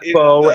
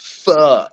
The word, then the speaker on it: pho: Oh yeah, He's like, I love faux, and I know some of you are like, it's pronounced pho.